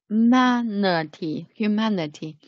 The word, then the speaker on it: humanity: Humanity. Here, the stress should put here. Stress should put on the second syllable.